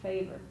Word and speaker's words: fever: They used to pronounce it favor.